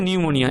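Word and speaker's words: pneumonia: নিউমোনিয়া বানানটা খেয়াল করবে, প্রথমে পি আছে কিন্তু উচ্চারণ হচ্ছে নিউমোনিয়া, এন দিয়ে উচ্চারণ হচ্ছে, পিটা সাইলেন্ট হয় উচ্চারণ করার সময়।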